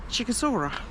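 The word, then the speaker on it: Sighișoara: But I can't help, the pronunciation of this town is Sighisoara, which sounds like a dinosaur to me.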